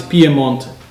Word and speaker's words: Piemonte: it's piedmont yes oh in italian it's pie month so that's so much prettier yes so the north western part of the country is called piemonte not the coastal area